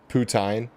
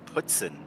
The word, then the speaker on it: poutine: but but you gotta you gotta pronounce it correctly putin no it's it's uh putzin if you're in quebec and nor yeah in northern northern new england yeah northern new hampshire they say it that way too because they're all